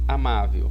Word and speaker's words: amável: O amável, ele tem uma sílaba tônica. Essa sílaba tônica tá aqui nesse A, no má aqui, tá vendo? Essa é a sílaba tônica dele, entenderam? Por quê? Porque ela é acentuada graficamente, certo?